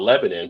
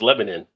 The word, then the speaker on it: Lebanon: So the locals will tell you, no, it's Lebanon. Sure, that's not an I on that. Sure, that's it. It's Lebanon. All right, I'm not going to argue with the locals. It's what y'all want to be. Whoever told you that's fine to you. But you go over to the Middle East, they got the same spelling, and it's not pronounced the same.